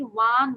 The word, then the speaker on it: won: এটা হচ্ছে আমরা যদি বলি ওয়ান ওয়ান same, ONE ওয়ান মানে এক, WON ওয়ান same, ওয়ান ওয়ান, ঠিক আছে? আমরা ওন বলবো না, উইন ওয়ান ওয়ান, ওকে? সো WON ওয়ান।